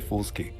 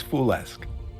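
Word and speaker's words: FoolSQ: Some people say foolski. How do you want it pronounced? It's foolesque. Foolesque? Oh, that actually... It's like French, right? Yeah. Oh, that actually makes sense. It's like foolish, but French.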